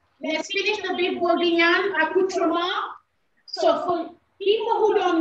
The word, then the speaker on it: accoutrement: So before we do the fish, let's finish the beef bourguignonne accoutrement. So for people who don't know what accoutrement is, it's accoutrement.